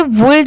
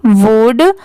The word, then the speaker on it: would: तो देखिए इसे वुल्ड इसलिए नहीं पढ़ा जाता क्योंकि यहाँ पर L लेटर साइलेंट है, सिर्फ लिखते टाइम यहाँ पर WOULD लिखा जाता है, बाकी पढ़ते टाइम यहाँ पर L लेटर साइलेंट होता है।